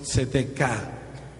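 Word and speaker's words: צדקה: una pobre traducción de una palabra hebrea que se pronuncia más o menos tzedekah.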